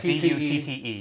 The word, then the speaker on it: Butte: For those of you curious, it is spelled Crested Butte, but whatever. Yeah, Butte. Butte. Yeah, okay. B-U-T-T-E. Yeah, it is Butte.